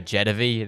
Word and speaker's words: Jetavie: And I know there is one of these that's really good for Jedvy. That is how her name is pronounced.